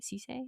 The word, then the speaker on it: Ceaser: like say a Brandon Ceaser Ceaser is how you say his name.